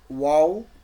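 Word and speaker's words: واو: চলেন আমরা এই যে ভাইয়া বলছেন ওয়াও লেটারটা, ওয়াও, ওয়াও, ওয়াও লেটারটা যখন হবে, উচ্চারণ হবে, তখন দুই ঠোঁট গোল করে মধ্যে ফাঁক করে, মানে এই যে দুই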